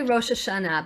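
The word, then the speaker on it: ראש השנה: How do most Americans say it? Rosh Hashanah. Yeah, I say Rosh Hashanah, something like that, right? Rosh Hashanah. But it's really Rosh Hashanah. But we all know when people say Rosh Hashanah, what we're talking about.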